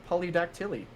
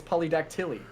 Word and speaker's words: polydactyly: reveal if you have polydactyly so I never did have an extra toe so that is false I said it wrong he just said polydactyl which is not the the thing it is polydactyly oh I've always said